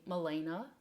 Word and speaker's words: Malene: me in Danish anyways I guess it's kind of weird that I pronounce my name Elena but that is because that when I came to Wisconsin as a foreign student in the 90s that is what my family called me so it's kind of